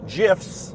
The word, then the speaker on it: GIF: I'm having to go find uh and make GIFs or GIFs depending on how you pronounce it.